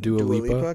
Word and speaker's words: Dua Lipa: Is that how you pronounce that? Dua Lipa?